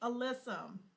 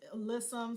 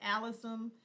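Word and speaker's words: alyssum: Sweet alysum. I pronounce it alissum. Some people pronounce it alysism, but I pronounce it alysum.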